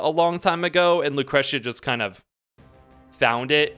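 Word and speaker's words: Lucrecia: I'm pretty sure they say it Lucretia, like with a little emphasis on the T. Lucretia, like it's a little cha.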